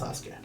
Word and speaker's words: Sasuke: And then question for even though his name looks like it's spelled Sasuki, it's Saskuke.